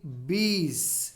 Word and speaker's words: bees: Honey bees. It's not bees. It is honey bees. In the last, the pronunciation should be like z sound.